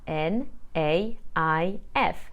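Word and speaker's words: naïf: with other similar words the French for naive is spelled n a i f with a Tremor on the eye so I will say na if the feminine of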